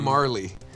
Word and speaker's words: Majerle: don't know its name Dan Majerle actually that's pronounced Marley well that's his fault